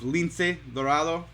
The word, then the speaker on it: Lince Dorado: We have a huge star, huge luchador, wrestler, if you know him, by the name of Lince Dorado.